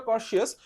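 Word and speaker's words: courteous: আসলে উচ্চারণটা কর্শিয়াস, বাট আমি বলি কোর্টিয়াস। কেন? কারণ নামের মধ্যে একটা কোর্ট আছে।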